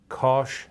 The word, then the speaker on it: cosh: A lot of people, especially physics and engineering people, pronounce these as sanch, kosh, and tanch.